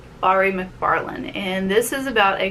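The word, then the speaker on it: Mhairi McFarlane: It's Don't You Forget About Me, and this is, I've been pronouncing her name wrong all along. It's Bari McFarlane, and this is about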